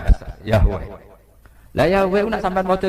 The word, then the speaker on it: Yahweh: Ya paham ya, Tuhan Yahudi tunggal niku Yahweh napa? Ya. Iku nak teng ejaan Latin Y besar, A H besar, W E H besar. Yahweh.